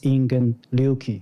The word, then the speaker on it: Ingen Ryūki: and also he uh if we pronounce in japanese is ingen liuki so i want all